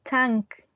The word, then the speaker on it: tank: is present there and it's not pronounced as Tang tank but tank I mean I I